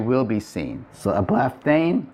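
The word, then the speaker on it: ἐβλέφθην: And the form would be-- ἐβλεφθην And that's a lot easier to say than ἐβλεπ--θην -- ἐβλεφθην is simply easier. It's a softening of the pronunciation.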